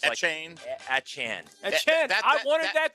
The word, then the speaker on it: Etienne: Apparently, Travis Etienne's last name is not Etienne anymore. Etienne? What is he going with? No, it's Etienne?